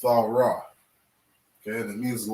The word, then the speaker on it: Thawrah: books of the bible they call it torah okay but this is the proper way to say this word it's all raw okay and it means